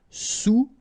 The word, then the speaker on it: sous-marin: All right, and remember, sous, okay, final S not pronounced, so S-O-U, sous-marin.